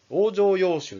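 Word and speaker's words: 往生要集: 物を入れたり往生要集って読みます往生要集っていう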